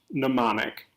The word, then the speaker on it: mnemonic: breathe hard just trying to spell it mnemonic pronounced mnemonic this is a group of numbers or letters